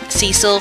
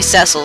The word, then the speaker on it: Cecil: and about the pronunciation I will say Cecil from time to time it's actually supposed to be cile so I will try to correct myself I suspect it as much